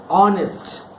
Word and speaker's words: honest: some words in English the letter H is silent for example the word honest H ou in est